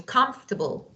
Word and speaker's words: comfortable: it's not you know o is not silent letter so comfortable so comfortable of course well of